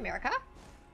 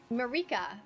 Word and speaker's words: Marika: Wait, was that a Statue of America? Marika.